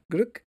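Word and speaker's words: Glück: Gluck.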